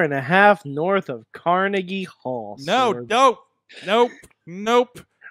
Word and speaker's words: Carnegie: That in the pronunciation of Carnegie, PA. Carnegie.